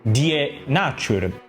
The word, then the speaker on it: Die Natur: In verità, prima della rivista inglese, in Germania era già stata fondata una rivista dal titolo simile, la rivista Die Nature, che non so come si pronuncia.